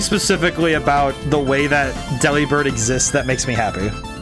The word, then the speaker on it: Delibird: you mean I immediately understood I see now pronouncing Deli bird similarly to delivered Del bird yep see that's